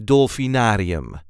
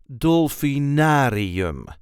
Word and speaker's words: Dolfinarium: the way we say dolphinarium dolinar so there is a light emphasis on the third syllable dolphinarium dolum dolinar you can